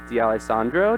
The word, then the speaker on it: D'Alessandro: special guest with me I have comedian Eric D Alessandro did I say that right yeah well as